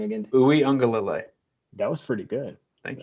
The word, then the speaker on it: Uiagalelei: And frankly, I have more confidence in DJ Uiagalelei than JT Daniels.